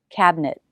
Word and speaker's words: cabinet: up for the t cabinet knit knit the second syllable should be shorter notice i'm stopping the air i'm not releasing the t cabinet but cabinet this t is a stop t if it's at the